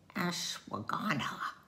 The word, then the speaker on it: ashwagandha: honor herb and this will be an interesting pronunciation ashwagandha a-s-h-w-a-g-a-n dha a zesty brew that opens the